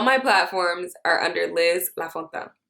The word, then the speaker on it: Lafontaine: All my platforms are under Liz Lafontaine. La. La. But it's pronounced La Fontaine.